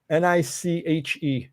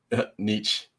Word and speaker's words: niche: How do you say Niche? Niche. I always say niche. Oh, it's niche.